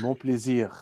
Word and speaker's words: Mon plaisir: Pronounce it. Tell all me right. in Non, French. non. Mon plaisir.